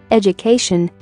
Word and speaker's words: education: For example, ed plus U plus cation, education. Here, ed and cation are connected by U, so DU sounds JU.